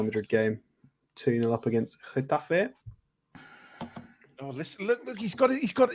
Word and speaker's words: Getafe: 2-0 up against Getafe. Oh, listen! Look! He's got. See that. This is what I mean about him being a posh kid, right? I mean, he's got to see it in a Getafe.